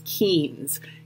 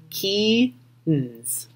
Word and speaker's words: Keynes: One of our most famous economists, especially macroeconomists, is John Maynard Keynes, and this name is tricky to pronounce, so it's Keynes. Keynes.